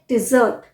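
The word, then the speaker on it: desert: जाता है ये है डिजर्ट डिजर्ट जो खाने के बाद हम मीठा खाते हैं उसे बोलते हैं डिजर्ट और ये है डेजर्ट डेजर्ट डी और डे और अभी एक केस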